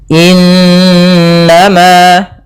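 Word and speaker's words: إِنَّمَا: Semoga innama tuaduna lawaqi' pada bacaan innama di sini ada nun berharakat tasydid diwarnai dengan warna hijau. Ini bacaan ghunah. Cara membacanya suara n-nya ditahan dua harakat. Innama ah baru dilepas.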